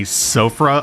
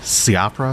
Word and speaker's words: Siofra: we are in the I always say sofra almost like the eye is silent s-i-o-f-r-a siopra siopro riverwell it's not